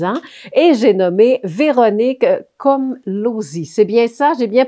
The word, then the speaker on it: Komlosy: Elle a enseigné à la polyvalente, donc le Boisé, pendant 22 ans et j'ai nommé Véronique Komlosy. C'est bien ça? J'ai bien prononcé votre nom de famille, Véronique?